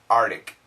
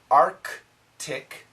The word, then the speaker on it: Arctic: lot of Americans say Artic Artic and they spell it a r t i c that's wrong the actual pronunciation Arctic quickly quickly Arctic Arctic Arctic so try and keep keep the C Sound but many Americans will